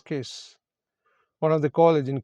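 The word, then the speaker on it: Caius: So pronunciation is KISS.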